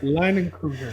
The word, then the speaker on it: Leinenkugel: Oh, Leinenkugel. October. Bro. Skeeter, what the heck, man? What's up? Dude, we didn't get that this year, bro. No, but say it right. Leinenkugel.